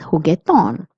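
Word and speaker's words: juguetón: So, it will be pronounced as heton playful. Also, please notice that there is an accent on the O. So, you're going to stress on this O. So, it will be heton which means playful.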